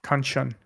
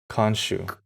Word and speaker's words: Khonshu: Konshan, Khonshu. Khonshu. Yep. Welcome to Nerd Cassette, where we don't know how to pronounce names that we've seen more than once.